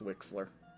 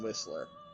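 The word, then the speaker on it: Wexler: anyway yeah wixler it's wixler you mean whistler no it's got an x in it yes but in this instance the x is pronounced as s it's not fixed oh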